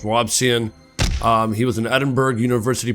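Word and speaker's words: Robison: I want to pronounce it Robinson, but it's not, it's Robson.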